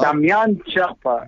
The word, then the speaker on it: Damian Chapa: She would be so proud of the way you said my name, because you said it right. Well, Damian Chapa.